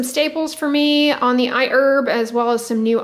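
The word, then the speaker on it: iHerb: on a few videos they actually specified that the H be kept silent so yeah that is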